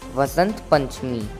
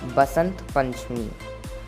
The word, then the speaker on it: Vasant Panchami: In Punjab and Haryana, Vasant Panchami is pronounced as Basant Panchami.